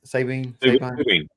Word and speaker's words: Sabine: Sabine.